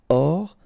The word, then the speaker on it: hors: Hors ligne, final here not pronounced, so ligne, and then here S is not pronounced, the final one, so hors, and remember H doesn't exist, so hors ligne.